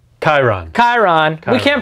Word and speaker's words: Chiron: printer that's in this box huge any cubic chiron chiron chiron we can't pronounce it right because it spelled weird chiron